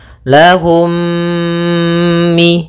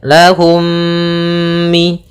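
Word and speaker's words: لهم من: namakan dengan Idam Mimi cara membacanya mim yang pertama dimasukkan kepada mim kedua dan ditahan gunahnya lahum Mi Gitu ya lahum Mi Kemudian pada lafal selanjutnya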